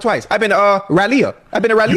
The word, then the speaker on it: Raleigh: I've been to Raleia. Okay, close enough. That That's how you say it. How you say it again? You for real? But it's spelled R A L E I G H.